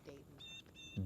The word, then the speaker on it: Dayton: It's Dayton. Dayton. Why do I keep saying Dalton? Everybody does it. Literally. You gotta correct me. You gotta say my name ain't Dalton. It's Dayton.